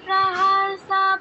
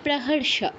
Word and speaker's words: প্রহর্ষা: সন্তুষ্ট প্রাণাতিনাধার ওয়াগা ওয়াগে প্রাহসা পুলক মাতারুহা ঠিক আছে উচ্চারণ ঠিক আছে একটু ভুল হয়েছে সেটা হচ্ছে প্রাহর্ষা প্রাহর্ষা বলেছ দন্তসর মত উচ্চারণ করেছ কিন্তু হবে মূর্ধন্য স্বর উচ্চারণ প্রহর্ষা বাকিটা ঠিক আছে প্র্যাকটিস